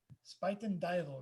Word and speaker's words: Spuyten Duyvil: blue nocturne notebook and say the pronunciation again pronounce the uh the name of the purse again uh spiten devil spiten dival right now james van loy who can only